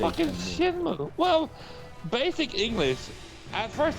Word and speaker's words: Shenmue: It's Shinmu. Yeah, but Shem- people would say Shenmue. Why would you overpronounce the N at the end of Shin?